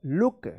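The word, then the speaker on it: look: उ की मात्रा मात्रा वाला उच्चारण या छोटा उच्चारण जैसे बी डबल ओ के बुक एल डबल ओ के क्या पढ़ेंगे इसको लुक सी डबल ओ के कुक एफ डबल ओ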